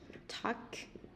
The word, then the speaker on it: talk: Talk, talk. Người ta không có chữ L ở đây.